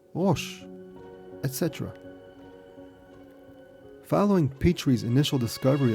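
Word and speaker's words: ראש: For the letter Resh, or R, they drew a picture of a head, pronounced Rosh, etc.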